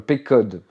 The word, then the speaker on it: Pequod: En plus, je sais même pas comment ça se prononce. Non. Le Pequod.